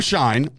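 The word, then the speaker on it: Schein: But it is Adam Shine, and he put out 9.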